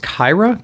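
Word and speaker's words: Qi'ra: I think it's pronounced Kyra, K-I or Q-I-R-A, if I'm not mistaken.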